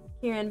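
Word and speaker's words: 麒麟: Kean or a Kieran cuz you know we pronounce it Kieran but there's like a slight like kind of L to the Japanese RS for cuz it's Chan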